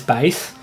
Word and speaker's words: Bass: can also play as Bas I imagine some people probably pronounce that bass but I think bass just sounds better um so you can